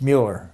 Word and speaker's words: Mueller: something about Mueller, and they say his name's Miller, and he says, "It's Mueller."